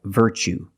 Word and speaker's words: virtue: word what's the pronunciation you see Tu e as the second syllable so the t is pronounced CH like chicken so what's the pronunciation that's right virtue what is a virtue